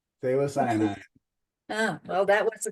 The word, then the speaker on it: Phthalocyanine: And I put the name of the acrylic paint down here, over here, and I cannot pronounce it, so. Phthalocyanine. Phthalocyanine.